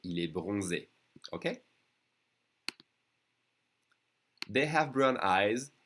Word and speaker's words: bronzé: Remember, when you see the accent on the E, it means you have to pronounce it E. So, il est bronzé.